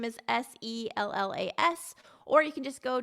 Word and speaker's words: Sellas: And then the last name is Sellas.